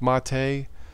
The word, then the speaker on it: MATE: But yeah, Linux Mint, Ubuntu, Mate, Mate, as it's pronounced, Zoran, Linux Light.